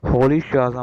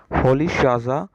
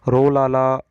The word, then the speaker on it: Rolihlahla: जो मतलब प्रोनाउंसिएशन है, अगर अफ्रीकन तरीके से अगर हम देखते हैं तो इसकी प्रोनाउंसिएशन ये बनेगी Nelson होली शाजा Mandela. Okay, Nelson होली शाजा Mandela. और अगर हम वैसे हम नॉर्मल जो इंग्लिश के तरीके से बात करते हैं तो नेल्सन रोलाला मंडेला।